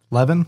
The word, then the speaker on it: Levin: Is it Harvey Levine? Okay. Yeah, Harvey Levin. Levin? Yeah, Harvey Levine. No, Levin. Harvey Levin.